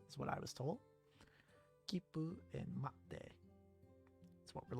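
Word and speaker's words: 切符: When you see the small tsu, you don't pronounce it as tsu. Instead you treat it as a very brief pause before pronouncing the consonant, not continent. Kipu, yes, kipu.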